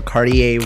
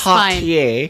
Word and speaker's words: Cartier: will share how she was able to win $100,000 of the Cartier Women's Initiative and was able to bring pride